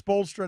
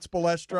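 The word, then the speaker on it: Spoelstra: It's Spolstra, not Spolestra, although I like it better your way. It's Spolestra. In England, you'd say Spolestra.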